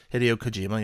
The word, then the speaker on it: Hideo Kojima: How do you pronounce his first name? Hideo Kojima.